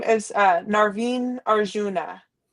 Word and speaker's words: Arjuna: I know that's from the um BA how do you pronounce? Yeah. Arjuna.